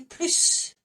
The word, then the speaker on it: plus: So, ils en ont demandé plus. So, more each time by itself. Here you go. Do you want more? I can take more. They ask more. We pronounce the S.